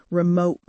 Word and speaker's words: remote: In my modern British accent, I often replace the T sound at the end of a word with this glottal stop. So remote becomes remote.